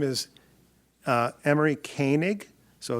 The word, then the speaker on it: Koenig: name is uh Emory kanig so it's a German name k OE is is